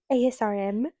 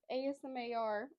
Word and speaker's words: ASMR: to say ASRM. I don't even think I said it right the last time. Right? So ASMR.